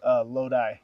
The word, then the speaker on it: Lodi: The city's called Lodi, California. I was going to call it Iota or something crazy.